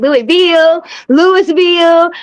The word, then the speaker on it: Louisville: They'd be like Louisville. I'm like, baby, it's Louisville. It's real simple. It's Louisville.